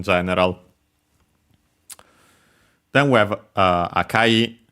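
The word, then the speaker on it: 赤い: then we have uh akai be careful because uh unlike other uh adjectives from names of colors uh this one is unacented the other ones Uh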